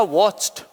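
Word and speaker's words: watched: क्योंकि इसका लास्ट अक्षर बोलने पर च आया, ये वाला च, और इसमें हम यदि ईडी ऐड कर रहे हैं तो इसका प्रोनाउंसिएशन क्या हो जाएगा? ट। और ये जो च है वो कैसा हो जाएगा? आधा हो जाएगा। अब ये प्रोनाउंसिएशन बन गया वॉच्ड।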